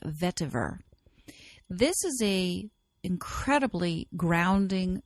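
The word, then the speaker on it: vetiver: does not have the T but it's always pronounced vver this is a incredibly grounding earthy oil this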